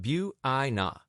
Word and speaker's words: Buena: We went to the Yakama Valley of Washington to a funky little town called Buena, pronounced Bua.